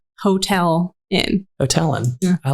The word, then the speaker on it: Houghtalin: It's just Hotel in.